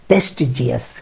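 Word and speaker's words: prestigious: এক্ষেত্রে খেয়াল করবেন, জিয়াস বলতে কিছু নেই, সব কটা জাস। তার মানে গর্জাস, তার মানে রিলিজিয়াস, তার মানে প্রেস্টিজিয়াস, প্রেস্টিজিয়াস।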